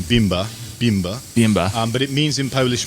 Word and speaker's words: Bimber: Bimber in Polish, it's pronounced more Bimber, but it means in Polish moonshine.